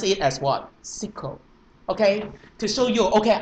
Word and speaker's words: SQL: not an id guy you will pronounce it as sql however if you would like to show you're a professional id guy then what you do you should pronounce it as what sequel remember if you would